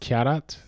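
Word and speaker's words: Charat: It's pronounced Kyarat?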